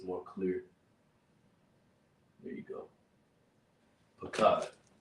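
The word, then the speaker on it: פחד: In the Lashawan Qadash, this mysterious word afraid is pronounced Pakad. Right?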